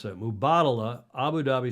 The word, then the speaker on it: Mubadala: performance in Abu Dhabi not likely the M mubadala you pronounce that I've learned again to pronounce that mubadala Abu Dhabi s Grand Prix will take place